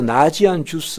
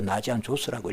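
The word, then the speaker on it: Ναζιανζός: 그 중에서 나지안 주스 혹은 나지안 조스라고 하는, 헬라어로 나지안 조스라고 읽어요. 그러니까 나지안 조스의 그레고리 우리우스를 거신학자라고 불러요.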